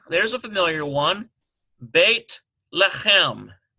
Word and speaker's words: Beit Lechem: Transliterate the proper names listed below and practice pronouncing them in Hebrew. Okay. So number 1, there's a familiar one, Beit Lechem. B-E-I-T-L-E-C-H-E-M.